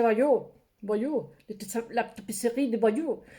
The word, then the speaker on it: Bayeux: Se escribe Bayeux, pero en francés seguro que se dice Bayeux.